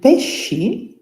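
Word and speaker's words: pesci: And pes spelled p e s c i is the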